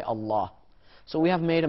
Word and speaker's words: Allah: mathematical equation and say how do you pronounce l a w l aw is law inal the second part of lamb is La but the first part is a L plus l a w plus h Allah so on and so